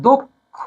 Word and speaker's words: দক্ষ: আমি আগে ব্যাখ্যায় বলেছি সেটা হচ্ছে অটা ও উচ্চারণ হবে দক্ষ না হয়ে উচ্চারণটা হবে দক্ষ হ্যা উচ্চারণটা কি হবে দক্ষ ঠিক আছে দক্ষ